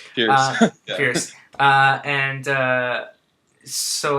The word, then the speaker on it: Pierce: I only have very faint memories of Pierre Brosnan. Is that how you say his name? Cheers. Yeah. Pierce.